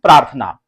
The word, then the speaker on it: प्रार्थना: हम प्र पढ़ते हैं और आ की मात्रा लगी है तो इसे पढ़ते हैं प्रा और आप देख रहे हैं थ के ऊपर रेफ की मात्रा है तो थ के पहले आधा र का उच्चारण होता है तो प्रार्थ थ ना ठीक है ना और ये ना तो ये इसको पढ़ते हैं हम प्रार्थना फिर यहां पे देखिएगा